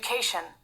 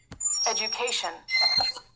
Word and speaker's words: education: Education. Education. एजुकेशन मतलब यहाँ पे रहता है DU, लेकिन प्रोनाउंस होता है मतलब GU जैसा, ठीक है।